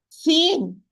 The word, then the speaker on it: س: Sad, Sin, and Zay, they are pronounced tip of the tongue with the lower central incisor from inside, precisely the lowest part of the inner part.